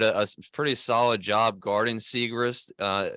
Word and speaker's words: Siegrist: a very good player siegrist that's how you say it secret secrecy not not Ryan Seacrest all right not Ryan she's not related to Ryan Seacrest it's it's segrest yeah and I mean